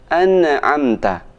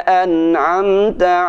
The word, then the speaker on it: أنعمت: Bagus, jangan sampai membaca sebagian saudara kita membaca an'amta. Nah, ini tidak benar. Kenapa? Huruf nun tidak boleh dibaca mantul. Siratal ladzina an'am. Nah, tidak benar. Yang benar siratal ladzina an'amta 'alaihim.